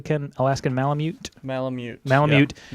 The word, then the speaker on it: Malamute: She had a little Yorkie that was eaten by the Alaskan Malamute down the street.